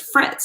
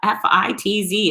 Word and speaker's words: Fitz: So it was Fritz. No, there's no R in my name. It's 4 letters. How do you screw that up? F-I-T-Z. It's Fitz.